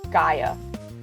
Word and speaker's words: Gaia: The audiobooks pronounce it Gia, so that's how I've been saying it, but I think it's Gaia.